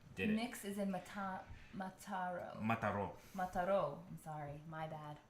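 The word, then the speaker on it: Mataró: Mix is in Mataro. Mataro. I'm sorry. My bad. I'm super American. Accento on the O.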